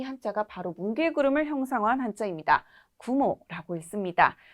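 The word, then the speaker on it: 雲: 구모라고 읽습니다.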